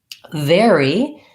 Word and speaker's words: very: Very has the same pronunciation as this word very. So even though this one is spelled with AR and this one is ER, they both have the air diphthong. They rhyme with fairy and berry.